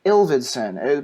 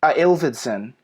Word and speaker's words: Ilvedson: people say it again ills ittsan yeah it's very close it's just it's exactly how it looks but everyone always mispronounces it and then because of